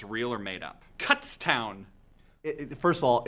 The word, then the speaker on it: Kutztown: it's real or made-up cuts town first of all it's pronounced Kutztown alright real quick no